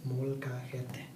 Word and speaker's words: molcajete: So this is a Spanish word, and so you can't really say it in English. It's kind of hard to say it if you try to spell it out. So that's why I'm telling you right now. It says molcajete.